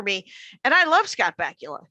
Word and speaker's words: Bakula: and i love scott bakula his name rhymes with butt crackula i mean there's absolutely